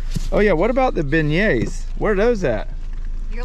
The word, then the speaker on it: beignet: Oh yeah, what about the beignets?